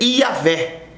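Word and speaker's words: Yavé: vem o nome é iavé mas com Y que trazendo para o português é Javé ou Jeová a letra J ela pronuncia do hebraico com i ela a pronúncia com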